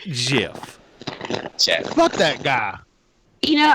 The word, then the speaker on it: GIF: If it's graphic, starts with a graph. So, GIF. GIF. J ready. It's not Jaffix. It's GIF. It's pronounced GIF.